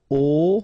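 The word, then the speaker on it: aux: at all and then a plus Le will become o AIX but then remember that phonetically it's O Okay so that's the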